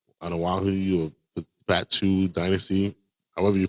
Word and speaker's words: Fatu: is the Anawahu or Batu dynasty, however you pronounce that. But yeah, it was crazy. It's pronounced Anawahi and a Fatu.